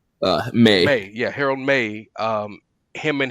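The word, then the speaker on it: Meij: it's been in a long time because Harold Measury, or how do you say his last name? May.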